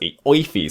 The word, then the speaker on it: Aoife: I can't call you any other name, and I have to call you Aoife because that's how it's pronounced. Aoife, say it with me now, Aoife.